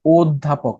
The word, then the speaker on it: অধ্যাপক: ব্যালেড হচ্ছে গীতিকা অধ্যাপক এটার প্রমিত উচ্চারণ কি হবে অধ্যাপক তাহলে ঘা না গো ঘনা এই যে কি বলে গ এটা হচ্ছে শুধু ছোট গ আর কি এটারে গরুর গ বলতে হবে ঠিক আছে গরুর গ অধ্যাপক তিন নাম্বারটা তারপর